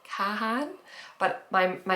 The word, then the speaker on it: Kahan: anywhere in the US you pronounce it Khan like Kahan but my my accent